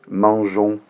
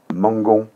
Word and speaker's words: mangeons: ya un petit piège si j'écris mangeons où est né ce comme ça tu vois que ça ferait nous mangue on se marche pas donc exprès pour cet exercice je vais rajouter un peu nous mangeons le suivant nous allons